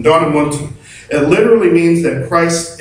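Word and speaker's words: ἐνδυναμοῦντι: The word in Greek is Endonamounti. It almost sounds Italian. Endonamounti.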